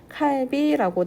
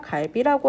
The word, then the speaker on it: 갈비: 칼비라고 대답을 했어요. 그러자 한국인 친구가 칼비가 아니라 갈비라고 하는 거야 라고 안내를 했네요.